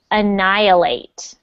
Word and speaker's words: annihilate: any helite okay so this one is a tricky one to pronounce it's annihilate annihilate annihilate annihilate that's good